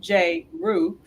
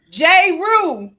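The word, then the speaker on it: Jrue: the creation of the jlh fund drew spelled j roo and lauren holliday will provide an additional 1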